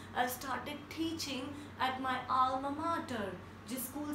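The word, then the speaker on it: alma mater: Next is ALMAMATER एंड we pronounce it like अल्मा मैटर.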